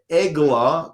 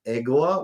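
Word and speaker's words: עֶגְלָה: can hear aala wagon EGA calf they both are actually spelled exactly the same way it's only that the vowels are different and therefore produce a different word one is pronounced EGA one is pronounced aala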